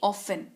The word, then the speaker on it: often: अक्सर यानी कि ऑफन। टी इसमें साइलेंट रहता है। OFTEN की स्पेलिंग होती है, लेकिन उच्चारण ऑफन किया जाता है।